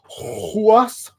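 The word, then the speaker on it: Ruas: It seems kind of backwards since they should have introduced us to him years ago, of Arturo Huas. It's spelled with an R at the beginning, but apparently is pronounced with an H at the beginning.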